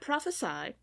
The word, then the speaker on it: prophesy: wanted to mention that prophesy with the S in it and and the long I sound at the end is the verb form of prophecy a prophecy is something